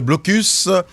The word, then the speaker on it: Blocus: l'heure de votre émission de prédilection et imbattable Blocus.